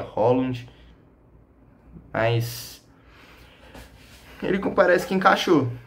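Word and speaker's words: Haaland: loiro alto nome dinamarquês um é Rand o outro se pronuncia Holland mas ele parece que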